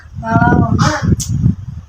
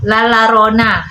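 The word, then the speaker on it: La Llorona: hantu pertama Adah larioona hah larona bukan larona dibacanya lalarona dari mexo Kakak enggak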